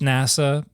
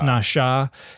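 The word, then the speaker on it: נשא: how to read diacritics they think n with a Chevron on top of it a is pronounced NASA but it's Nasha and then also um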